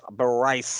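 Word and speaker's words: Brice: That is Thomas Bryce. That's spelled just like it sounds. B Rice. Thomas B. Rice.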